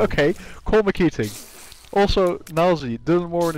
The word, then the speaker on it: Dylan Moran: Also, Nilesy, Dylan Moran is pronounced Dylan Moran. Dylan Moran.